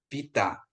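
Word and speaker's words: βήτα: ya Oke nanti ini sekedar aja ya Alfa Vita Eh jadi Bapak Ibu untuk B Vita ini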